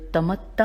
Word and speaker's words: تمتع: کر کے بتاتی ہوں، تے میم تے عین، اور تے کے اوپر جو درمیان میں تے ہے اس کے اوپر تشدید ہے، تو تمتع ہونا چاہیے، اس تے میں نے